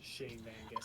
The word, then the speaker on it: Shane van Gisbergen: it, but I say it correctly, so it's Shane Van Gisbergen. I don't see that! Screw you! Alright, anyway. Cup Series. Cup Series. I'm just going to look at the stuff here. No chips? Shane Van Gisbergen is yeah, we're doing chips.